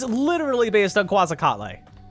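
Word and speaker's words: Quetzalcoatl: of my pet peeves it's pronounced like quazar yes and it's quazar is easier to say than quasa catle absolutely and if you want to be technical it's probably pronounced quak catle but whatever now I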